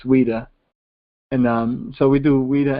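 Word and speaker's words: Ouidah: It's with a Q, so you want to pronounce it with a Q, but it's Ouida.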